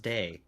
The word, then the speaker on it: DAI: No, it's pronounced day as in divine artificial intelligence. Hello, I'm Day. How can I help you today? Hey, it practically rhymes.